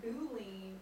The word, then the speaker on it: Boolean: Boolean. Boolean. Long O's.